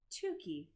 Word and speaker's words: Tookie: Tookie. The last syllable sounds like key.